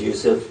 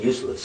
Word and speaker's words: Yusuf: background yeah first of all my name is Yusuf I want to give you a chance to